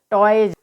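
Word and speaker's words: toys: तो जब वर्ड के लास्ट में बाई आए और उसके बाद एस आए तो वहाँ पर एस का उच्चारण ज होता है।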